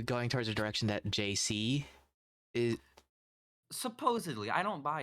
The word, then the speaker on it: Jacý: supposed to do because my name is jc right it's not the two letters it's spelled j-a-c-y but i guess if you say jc like it's like it's